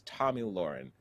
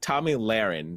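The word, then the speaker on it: Tomi Lahren: first time really people heard about them is tommy lauren so it's tommy laron sorry to mispronounce her name early audiences came from viral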